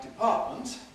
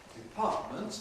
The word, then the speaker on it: department: If I use a word like department, department there are two t department.